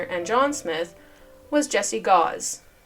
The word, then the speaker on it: Gause: Williams, Hyram Smith, Joseph Smith, Senior, and John Smith was Jesse Gau. Rhymes with house. No, it doesn't. It rhymes with laws.